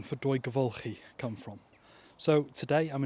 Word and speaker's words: Dwygyfylchi: So the name for Devulki is one of those names that gives a